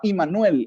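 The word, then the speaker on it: עמנואל: si dios con nosotros se pronunciaba y manuel en hebreo o sea dios con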